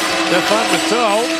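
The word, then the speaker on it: Stefan Matteau: Stefan Muto is the pronunciation, who is the Team USA player of the game.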